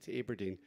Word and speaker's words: Aberdeen: Well, she was actually born in Aberdeen, although she made me pronounce it correctly, which is Aberdeen. It's Aberdeen.